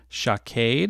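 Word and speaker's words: שקד: Okay, almond in Hebrew is the word shaked. Uh, Okay, it would be pronounced like this.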